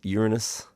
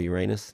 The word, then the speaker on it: Uranus: the trusty robot, including slinging it off towards Uranus or Uranus, depending how you say it.